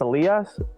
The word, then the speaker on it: Elias: name like it's uh it's a lias in spanish it's elias in english and like a lot